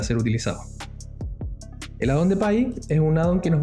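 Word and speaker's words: Pie: Dentro de eso, a nosotros nos interesa uno que se llama Pi, que se escribe P-I-E, y que seguramente cuando ustedes lo encuentren se les va a ver así.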